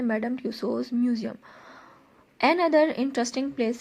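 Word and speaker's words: Tussauds: अब next heading आपने देनी है madam ट्यूसोज museum. N other interesting place से लेकर ये है स्टार्स ऑफ टुडे तक। मैडम ट्यूसोज म्यूजियम, ट्यूसो में ये डी साइलेंट रहेगा।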